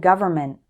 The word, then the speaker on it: government: mistake is forgetting to include the N before the M in words like Environment and government again it's because when speaking fast the end sound gets shortened or eliminated for example this new